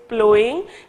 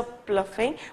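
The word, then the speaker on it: ploughing: तो प्लोइंग, please ये जो है करेक्शन करें इसको, this word is pronounce is प्लोइंग, ठीक है। जैसे कि in previous lecture I may have pronounce is अ प्लफिंग बट इट इज नॉट, इट इज प्लोइंग, ठीक है।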